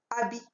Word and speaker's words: habit: Habit. Lorsque je dis habit, habit.